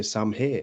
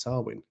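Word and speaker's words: Samhain: had too many beers you will say the word sawin right but if you've had too many beers you might say sam ha even though it's pronounced swin do you know what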